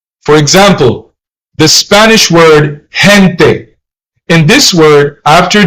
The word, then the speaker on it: gente: If the vowels E or I comes after the letter G, then you have to pronounce it soft. Gente, which means people, and gigante, which means giant.